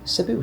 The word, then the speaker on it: Cebu: Sibu City as it's pronounced properly.